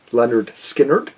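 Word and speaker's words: Lynyrd Skynyrd: Leonard Skinner, of course, had their debut, pronounced Leonard Skinner.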